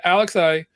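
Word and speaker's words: Alexei: end of it when alex i alexa only has one has no earpiece and he thinks he does yo he did a great job bro i believe it's pronounced alexi alexa thank you sorry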